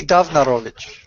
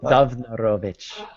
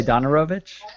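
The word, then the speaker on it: Downarowicz: But it's pronounced like a V, so I can see why you did that.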